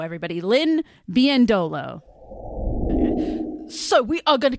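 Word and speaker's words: Biyendolo: She is now known as Lynn Bendolo. The emphasis is on that second to last O. So Bendolo Bendolo, everybody. Lynn Biendolo.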